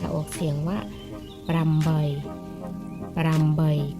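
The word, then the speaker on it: ប្រាំបី: เล่น แบบ จะ ออก เสียง ว่า รำ บ่อย ปราม ใบ ก็ คือ 5 กับ 3 แปล ว่า แปะ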